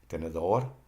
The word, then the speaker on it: tenedor: Examples are tenedor, the accent is on DOR.